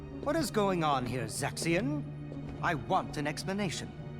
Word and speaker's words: Zexion: is going on here zexion I want an explanation I always called him sexy on to your song probably